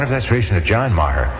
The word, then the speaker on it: Maher: I wonder if that's relation to John Maher. No, he spells his name meager and pronounces it Maher. This is Jacqueline Maher, spelled Maher.